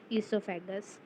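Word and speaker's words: oesophagus: ठीक है, जहाँ से हम फूड को जो फूड है वो ट्रांसपोर्ट होता है, ईसोफेगस। यहाँ पे ओ भी लगता है, लेकिन ओ साइलेंट होता है तो इन लोगों ने दिया नहीं है।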